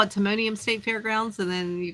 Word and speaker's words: Timonium: the city always catches me on that one Timonium Timonium yeah I mean sometimes they call it Timonium State fairgrounds and then you call it the